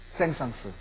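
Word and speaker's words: Saint-Saëns: 우 생상 쓱 우리는 올해 저는 생상 이라고 불렀습니다 생성 프랑스 사람이기 때문에 마지막에 쓸 발음하지 않는 것이 옳다 라고 생각했던 시절이 있었습니다 그런데 저의 스가 사랑 이름의 올때는 발음을 해야 된답니다 센스가 맞습니다 까미유 쎈스 우린 이렇게 부릅니다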